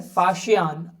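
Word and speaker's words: Faxian: Chinese traveller फाशियान pronounce S फाशी NA visited India in the fifth century CE ही सेट आउट on this long and difficult पिल्लगिम।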